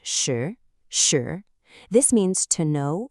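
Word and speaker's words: 识: Now moving on to our third character, we have shi, which is pronounced shi, shi.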